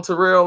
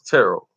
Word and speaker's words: Terrell: If you call him Terrell Owens, he gonna have a fit. It's Terrell. I'll be like, well, it ain't spelt like Terrell, but okay.